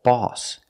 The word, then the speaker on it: boss: is a little different it's not the open ah sound the sound is back here all all saw call we need this sound we need this sound ah for OSS example boss cross let's look at the